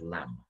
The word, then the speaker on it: lamb: said i've learned that there's a silent b on the end of the word lamb which is the literacy